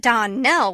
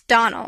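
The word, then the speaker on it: Donnell: not as for that dawnell woman she'll get no Don nelling from me I can assure you the name is Donal and always has been the woman is crazy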